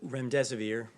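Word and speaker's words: remdesivir: you so much I wanted to ask out rent rent severe if I pronounced that correctly can you tell say is it currently approved for use on the virus so REM des aveer and it's a drug made by Gilead that's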